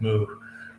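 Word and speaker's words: หมู: So, uh, in Thailand, pigs go moo. Yes. Port pig in Thailand is moo. Um, and 555. The number five is ha. It's pronounced ha.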